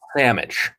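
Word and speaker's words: Salmich: It's called Samich. But it's spelled SAL MICH, and it's a fish, but also a sandwich.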